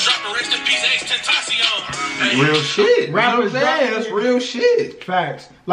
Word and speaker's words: Tentacion: But yeah, T Grizzley, like, I like how, and he actually pronounced his name right, Tentacion. Yeah. Where other people be calling him Extension and Tentention, whatever.